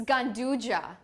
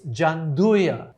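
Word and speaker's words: gianduja: one for the pros jandya it's gandja it's gandja no it's jandya jandya is uh it's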